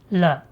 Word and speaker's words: 了: So it is pronounced L.